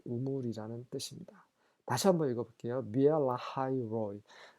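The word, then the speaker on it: Beer-lahai-roi: 비엘라하이 로이. 우리말 성경에는 부엘라헤 로이라고 하는데 영어식 발음은 비엘라하이 로이라는 거.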